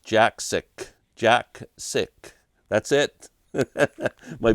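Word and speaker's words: Jakszyk: book um Jacko Jacki uh yes Robert it's pronounced Jack sick Jack sick that's it my buddy Robert has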